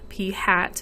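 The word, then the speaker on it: p̂: which is notated using p hat p hat is how you say that um it's the best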